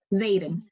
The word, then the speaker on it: Zaden: what is his name Zaden like Aiden with the Z so still not that